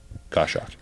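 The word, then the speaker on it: Goshawk: uh g h a w k that's how it's spelled I think you spelled it wrong g o s h a w k go shock okay yeah nailed it I'm going to fact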